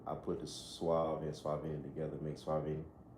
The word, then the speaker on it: Suaveny: Um, Swag Vinnie. Yeah, Swag Vinnie on YouTube, Swag Vinnie on IG. How you spell that? Swag Vinnie, S U A V E N Y.